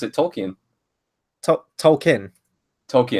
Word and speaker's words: Tolkien: the trailer and moving his teacher originally calls him Tolkien and then he has to correct him on that but I don't know there's probably loads of pronunciations but no Tolkien is the way it's pronounced so yeah I mean